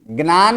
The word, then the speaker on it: ज्ञान: क्योंकि अगर इसका उच्चारण करवाएंगे तो यह सही उच्चारण कर क्या यह ज्ञान है मैं जो बोला व सही है ज्ञान है क्या बोला जाता है ज्ञान जन नहीं